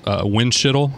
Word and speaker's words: Windschitl: so Matt winshuttle who's speaker Pro Tem Landrieu winshuttle as how you say it'll wind yeah be